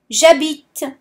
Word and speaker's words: j'habite: In French, the H is silent. So you won't say j'habite, but you will say j'habite. Imagine that there is no H there, just the J apostrophe and A. J'habite.